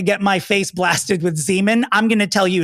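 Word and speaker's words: Xeomin: x e o m i n and it's pronounced Zeman so when the nurse practitioner said we're gonna be using zean I looked at her and I said Myra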